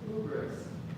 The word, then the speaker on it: hubris: We saw that term hubris before, and you'll hear people say hubris. Some people say it with an H, some people say it with a silent, right?